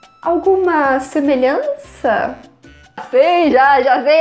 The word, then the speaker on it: algum: Alguma semelhança?